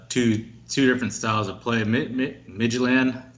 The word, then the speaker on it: Midtjylland: I like to say it Midtjylland, but some of the people are saying Midtjylland against the Rangers.